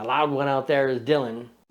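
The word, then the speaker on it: Django: The loud one out there is Dylan. D-J-A-N-G-O. The D is silent.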